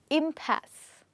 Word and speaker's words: impasse: This word is impasse. Yes, we do not pronounce the last E. We only say impasse.